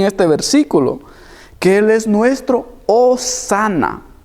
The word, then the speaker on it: hosanna: hebrea que quiere decir que se que se pronuncia o sana pero su civil su verdadero significado es o